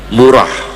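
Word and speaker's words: مراح: Murokulabid jangan dibaca marah ya. Murah. Ini banyak ustaz-ustaz ngajar tafsir munir bacanya marah. Marah bitsah ya murah.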